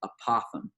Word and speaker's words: apothem: that is called an apothem it rhymes with Gotham for you batman fans